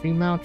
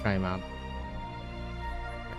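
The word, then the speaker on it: Trimount: Is it tree-mount? Tri-mount? Yeah, pretty much just tri-mount.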